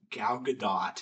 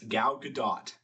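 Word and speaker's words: Gal Gadot: So Google says the emphasis placed on the second syllable of her last name and the T at the end is fully pronounced, not silent. Galadot.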